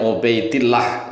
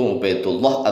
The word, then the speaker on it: Ubaidillah: rofa kalau dibaca jir Ubaidillah ya sering diucapkan oleh orang Indonesia yaitu ngobatillah atau Abdullah pada tahun 383 Hijriah